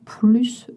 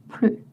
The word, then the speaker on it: plus: Plus aussi. Vous ne prononcez pas le S quand la signification est not anymore, no longer. Je ne mange plus de viande.